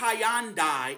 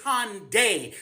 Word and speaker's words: Hyundai: It's not Hyandai, it's Hyundai.